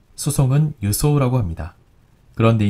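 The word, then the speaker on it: 輸送: 물자 수송이라고 할 때 수송은 유소라고 합니다. 그런데 이 한자 숫자를 유라고 읽지 않고 받을 숫자를 생각해서인지 주라고 읽는 경우가 종종 있습니다.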